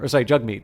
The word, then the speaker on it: Jagmeet: But Jagmeet Singh Jagmeet is the correct pronunciation.